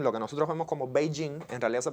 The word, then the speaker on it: Beijing: Entonces la palabra Beijing, lo que nosotros vemos como Beijing, en realidad se pronuncia Beijing. La primera parte sube, la segunda parte baja.